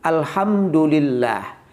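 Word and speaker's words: الحمد لله: salah tidak memakai tasydid yang benar itu Alhamdulillah kalau kita membacanya tidak menggunakan tasbih Alhamdulillah itu nama setan kita Memanggil nama setan namanya dulillah atau singkatnya dulil jadi harus pakai tasdid Alhamdulillah ketika kita membacanya Alhamdulillah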